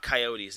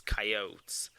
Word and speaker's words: Coyotes: they're actually pronouncing it it's not coyotes it's coyotes either way they're playing arizona